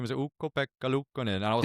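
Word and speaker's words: Ukko-Pekka Luukkonen: and it was like, actually, the way to pronounce my name is Ukko-Pekka Lukkonen, and I was like, whoa, wow, that was melodic.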